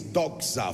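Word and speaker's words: δόξα: that down very quickly the Greek expression of the word word glory is DOA for Words d o x a DOA DOA this has a slightly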